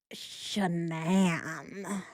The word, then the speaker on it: Shanann: It's Shanann.